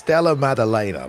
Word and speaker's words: Della Maddalena: Am I saying that correctly? Maddalena. You got it. It's Della Maddalena, but you're close enough, you know.